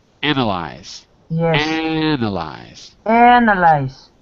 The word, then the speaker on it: analyze: one form to another so instead of analist we have anal I the vowel changes sound an analis no no wait a second analyze the verb yeah to